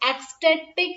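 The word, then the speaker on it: ecstatic: एक्सटैटिक, एक्सटैटिक ये word जो है, इसकी प्रोनाउंसिएशन जब करेंगे ना तो एक्स की आवाज आ रही है, लेकिन जब लिखा जा रहा है तो सी है।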